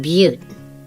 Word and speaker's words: Butte: miles through the wilderness to Ayler Butte that's pronounced Butte but we call it I learn but haha